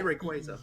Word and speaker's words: Rayquaza: Yeah, at Pokemon Worlds they actually print out this is how you say Rayquaza.